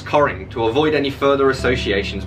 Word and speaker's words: Cockering: upon reaching his majority instigated the practice of pronouncing the family name as coring to avoid any further